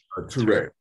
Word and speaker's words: Ture: Ture.